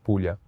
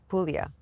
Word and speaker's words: Puglia: Puglia. Puglia.